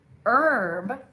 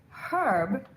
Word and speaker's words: herb: If you say herb, you're sounding like an American. But if you say herb, you sound like a British English speaker.